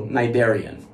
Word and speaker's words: cnidarian: funny name it has the word cnidarians is pronounced as if the letter c was not there silent when you say